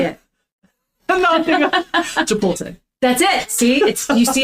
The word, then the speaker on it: Chipotle: When you say Chipotle, oh yeah, you say it wrong every time, and I'm always like, I don't even correct it anymore. Oh, it won't work. Say it. No, Chipotle.